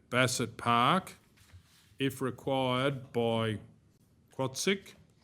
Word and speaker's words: CWAATSICH: And then the organisation is Quatsic, and it is spelt CWAATSICH.